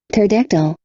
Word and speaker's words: pterodactyl: pterodactyl, Pterodactyl. Pterodactyl. Não tem um pt, não tem pt, é só pterodactyl.